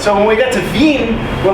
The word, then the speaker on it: Wien: We did consider the idea that the fun of naming her Vienna is that the Austrians spell it Wien. Because Yes. they're That's how they say Wien.